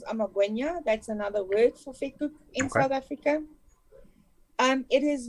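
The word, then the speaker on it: vetkoek: Vet. Vet. Cook. Vet cook. Vet. There you go.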